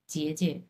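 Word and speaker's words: 姐姐: এটা হাফ থার্টন উচ্চারণ হবে, জেজে।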